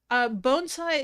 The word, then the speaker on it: bonsai: Bonsai is how it's pronounced, Kermit.